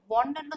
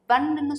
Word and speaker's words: one: இது ஆக்சுவலி நம்ம எப்படி ப்ரொனவுன்ஸ் பண்ணணும் அப்படின்னா, இந்த ONE வந்து நம்ம ஒன்னு சொல்லக்கூடாது, பன்னு சொல்லணும். பன், 1 Ruby coin, give me எ 1 Ruby coin.